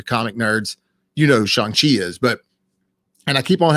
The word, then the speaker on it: Shang-Chi: So it's Shang-Chi.